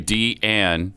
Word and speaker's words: Deanne: Now, you got to say Deanne. And I will say that That's 2 syllables.